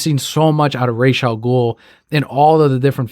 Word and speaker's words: Ra's al Ghul: And if the comic pronunciation wasn't enough, Denny, from all of the interviews and up until his final days, pronounced it Ra's al Ghul.